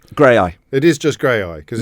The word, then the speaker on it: Graeae: Yeah, that that was I can't pronounce Graeae. It is just Graeae cuz it's not cuz it's spelled g r a e a e a e.